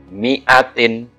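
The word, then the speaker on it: مِائَةٍ: Huruf mim ini dibaca pendek. Nah, ini dibaca pendek ya. Sedangkan alifnya ini adalah ziyadah. Oke, kita baca. Dan ini ada di beberapa surat ya. Mi'atin, gitu ya.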